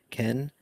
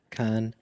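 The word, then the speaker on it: 間: common word in japanese it can be pronounced in many ways such as ken khan and hazama indicating the different meanings it also connotes various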